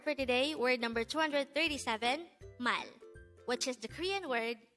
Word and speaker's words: 말: forget our word for today word number 237 mal which is the korean word for word or